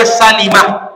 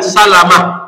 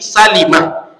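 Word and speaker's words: سلمة: ini oleh Imam Nawawi dijelaskan membacanya Salimah bukan Salamah Bukan salumah tapi Salimah dijelaskan cara bacaamnya karena jadi orang Salamah sebab ada sahabat nabi Abu Salamah Salamah tapiimah sebuah kabilah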